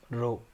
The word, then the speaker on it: rho: इसको इस रो से प्रोनाउंस करेंगे RHO, रो।